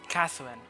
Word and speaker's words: Catherine: Catherine, that's how you pronounce her name.